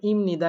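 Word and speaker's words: 입니다: আপনারা কি উচ্চারণ করেন অবশ্যই এটাকে উচ্চারণ করে ইমনিদা কেন উচ্চারণ করেন কারণ বিউব বাচ্চামের পরে যদি নিয়মন থাকে সেক্ষেত্রে বিয়োগটাকে কি পড়তে হয় ম পড়তে হয় বিয়োগটাকে কি পড়তে হয় ম পড়তে হয় তাই এটার উচ্চারণ হয় ইমনিদা আসেন একটা তথ্য আজকে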